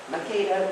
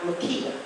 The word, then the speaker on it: Makeda: Makeda, which is the way they pronounce it in Ethiopia, not Makeda.